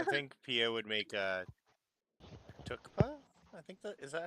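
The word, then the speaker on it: thukpa: It's pronounced tukpa.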